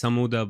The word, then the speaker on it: Sammouda: getting to do a live interview with Samouda. Am I pronouncing that right? Yeah, it's Sammouda, but it's Sammouda.